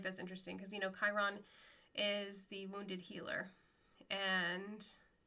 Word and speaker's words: Chiron: but he was like, "What's chew on?" instead of Chiron. So, Chiron is spelled c h i r o n, and my son and I were like cuz my son's a big Percy Jackson fan. He's like, "No, it's Chiron, Dad."